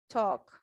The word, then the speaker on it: talk: You don't pronounce the L, it's silent.